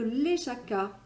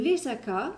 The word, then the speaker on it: Lesaka: Et aujourd'hui, je vous emmène sur les hauteurs à Aguigna, qui est un site sur les hauteurs de Léjaka. Et Léjaka, qui s'écrit L-E-S-A-K-A, se trouve dans la province basque de Navarre.